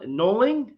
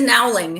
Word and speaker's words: Nowling: It is Nowling. It's phonetic. Nowling.